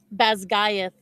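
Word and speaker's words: Basgiath: Um, pronunciation. How do you actually say the name of the college? Basgayath War College.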